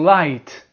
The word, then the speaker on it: light: Now you have the I sound. I and the GH is silent once again. Silent. For example, light, night, bright, fight, flight, delight, high, thigh, sigh, sight.